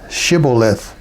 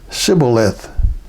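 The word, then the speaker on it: shibboleth: would say to him say now shth but he said sioth for he could not pronounce it correctly Then They seized him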